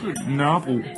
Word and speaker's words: Nørrebro: specifically the neighborhood of, let me see if I can pronounce this right, Nørrebro. Nørrebro? Let's hear it from you. Nørrebro. Okay, fair.